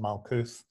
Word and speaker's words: Malkuth: The temple of Earth, as you said, it's called Malkuth. Yeah. Some people pronounce it Malkuth again.